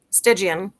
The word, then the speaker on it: Stygian: Is that how you pronounce it? Stygian? Stygian.